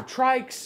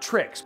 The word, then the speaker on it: TRYX: It's actually pronounced trikes as in like tri tricycle or trike.